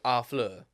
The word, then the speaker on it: Harfleur: I'm in French, they don't pronounce the H. So, Harfleur.